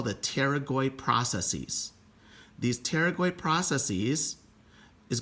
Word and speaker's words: pterygoid: two lateral pterygoid processes remember the pterygoid has a silent p so i take a